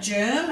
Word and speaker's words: German: lot of words where we use it the G for the jet sound we do have German as another one that